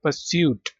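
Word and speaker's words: pursuit: Competition contest पर्स्यूट इसमें भी are silent है। पर्स्यूट ठीक है।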